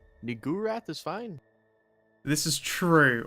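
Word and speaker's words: Niggurath: twitch safer work name new wrath is fine this is true although it is definitely pronounced like the n-word I'm afraid no no which is why I don't pronounce it that way look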